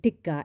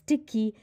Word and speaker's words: tikka: What followed was a performance in culinary cluelessness, pronouncing tikka as tiki, likening the biryani to wonderbread, and even saying that the briani cart outside her house serves a better plate.